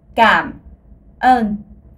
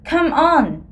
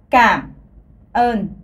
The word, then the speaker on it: cảm ơn: En vietnamien, ça se dit cảm ơn. Alors, encore une fois, cảm ơn. Alors, pour les touristes, quelqu'un a dit que voilà, ça ressemble à come on dans l'anglais.